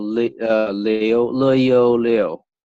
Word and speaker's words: Liu: right it's called Li Leo Leo leo right and then so so easiest way to pronounce that just say Leo like Leo it make sense yeah